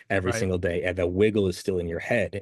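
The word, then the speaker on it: WGLL: is the wiggle right WG l l pronounced wiggle which is what good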